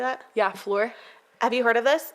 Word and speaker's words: Fleur: Yeah, Fleur.